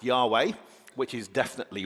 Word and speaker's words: Yahweh: So if you want to do it correctly, and let's remember this is a scholarly reconstruction, it would be Yahweh, Yahweh.